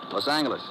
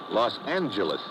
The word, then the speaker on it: Los Angeles: moved out to california los angeles correction los angeles oh yeah soft g it's official now so